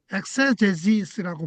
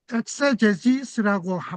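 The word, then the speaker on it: exegesis: 요거 이제 발음이 ex g es인데 엑세제스라고 발음을 해요. 그 성경을 연구하는 방법에는어요 엑세제지스라고 발음하는요 방법과 그다음에 두 번째 방법은 요거예요.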